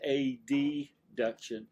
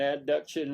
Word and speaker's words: adduction: I'm going to now I'm going to pronounce them as abduction versus a deduction. I say that just to help you. I've heard them as abduction and adduction and then you sit there like what did he say? So I usually try to pronounce or remember to try to remember to pronounce the second letter.